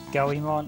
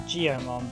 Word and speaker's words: Goemon: I always pronounced it Goemon. I did pronounce it Geomon, but it's not done as Geomon because that would require G-E-O's Goemon.